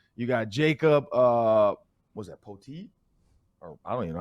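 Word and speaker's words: Pöltl: got Jacob, was that Poteet? Or I don't even know how you say his name. Pirtle. Pirtle. I swear to you, it's Pirtle, even though there's no R.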